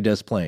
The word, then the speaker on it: Des Plaines: That the local newscasters do say Des Plaines.